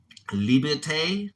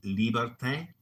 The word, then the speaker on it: liberté: Liberté is how they say it in French. Liberté.